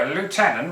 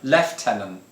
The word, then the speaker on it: lieutenant: because you know you americans you like to pronounce or french don't you lieutenant what's that all about no lieutenant is the correct pronunciation i don't know i